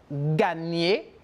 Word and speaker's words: gagner: On a le N, como la ñ en espagnol, gagner.